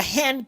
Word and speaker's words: hand: Para la palabra hand pronunciamos la H del inglés, que es como si estuvieras echando bao. Enseguida pronunciamos un sonido muy particular del inglés, la ash, que no es una A y tampoco una E. No es hand ni tampoco hand. Es algo como entre una A y una E del español.